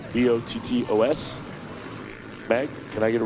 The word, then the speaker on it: Bottos: All right, Curry, Karsten, Oplinger, Buskirk, Powers, Pape, Gocher, Brewer, Max, and Buttos. I believe I'm saying it right. B-O-T-T-O-S. Meg, can I get a ruling on that? Is it Buttos? Bottos. Okay.